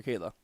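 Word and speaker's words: Cheola: she has the most unique spelling of a first name for that pronunciation by the way right c h e o l a for Kayla that is very unique I just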